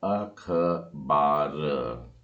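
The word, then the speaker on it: עכבר: और चूहे को इस तरीके से लिखा जाता है और इसका उच्चारण है अखबार। जी हाँ, बड़ा आसान है, अखबार।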